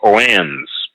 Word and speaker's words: Oannes: And their leader was called Oannes. Oannes is spelled Oannes.